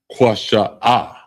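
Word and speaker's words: קישוא: And it's pronounced Kwasha'a.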